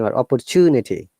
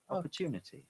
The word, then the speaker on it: opportunity: four syllables opportunity yes remember that if it is a four or three syllables we generally stress on the second opportunity listen to it opportunity see opportunity yes we're